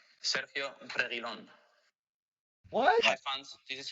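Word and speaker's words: Sergio Reguilón: Hi fans, this is how to pronounce my name. Sergio Reguilon. What? Hi fans, this is how to pronounce my name. Sergio Reguilon.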